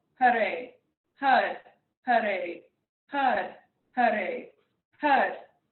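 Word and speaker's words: Haray: We're going to chant the mantra, Had Hare. So H-A-R, Had, and we'll take the tip of our tongue, press it against the roof of our mouth, and then Hare. So again, it's spelled H-A-R-A-Y, and this is representing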